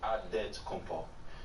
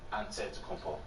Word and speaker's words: Antetokounmpo: In the real way, you gotta say it with a D, so it's Antetokounmpo. But in the Greek way, you say it with an NT, like Antetokounmpo.